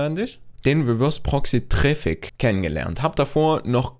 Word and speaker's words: Traefik: das treffe kanisch oder traffic je nachdem wie er das ausspricht ich spreche ja traffic aus weil tatsächlich heißt auch der name ist aber eigentlich geht auf der webpage es wird traffic ausgesprochen also wundert euch nicht